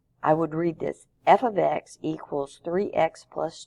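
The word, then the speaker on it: f(x): another way of saying y equals this is pronounced f of x it doesn't mean a variable f is multiplied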